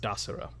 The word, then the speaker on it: Desiro: I am Desiro. And when he says that, you know that it is pronounced Dasiro.